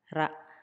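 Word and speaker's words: ラ: Ra, ri, ru, re, ro. Katakana ra, pronounced as ra, ra, ra.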